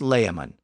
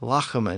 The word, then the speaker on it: Layamon: Midlands his name was lamon probably pronounced more like Lan at the time based on the way